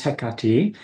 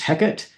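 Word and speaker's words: Hecate: the goddess herself now there are several different ways to pronounce her name the more correct Greek version is heati uh I grew up with kind of the Shakespeare version which is heckit so that's what I tend to say but hey you do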